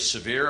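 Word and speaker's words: Sèvres: significant thing to me historically the treaty of severe am i pronouncing that correctly yes uh was a a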